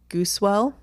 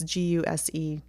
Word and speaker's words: Gusewelle: This is Vernita and Arthur Goosewell. It's Gusewelle.